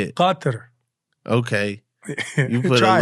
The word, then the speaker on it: Qatar: Qatar. Okay. You put a Try little it. Qatar.